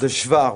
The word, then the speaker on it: Hvar: d'un endroit magnifique de l'île de hvar voilà comment elle se prononce en croatie ça vous étiez tous